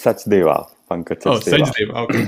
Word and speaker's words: Sachdeva: You know my impossible to pronounce names correctly. No, it's Sachdeva.